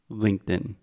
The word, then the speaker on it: LinkedIn: top of your mouth a stop te is the exact same thing but we do not aspirate aspirate is a complicated way to say the T the T so stop T we don't do that but everything else is the same so sometimes we use a try and say Linked In most of the time we say LinkedIn okay does that make